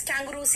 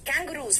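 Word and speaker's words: kangaroos: Basically इसको pronunciation कैंगरू ही था, जैसे आप लोगों ने डेंगी को डेंगू बना दिया सुन के, और इसमें देख लिया तो कंगारू बोल दिया, जबकि कैंगरूज है।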